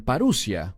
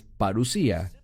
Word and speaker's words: parusía: Algunos la pronuncian paruia, pero es parusía.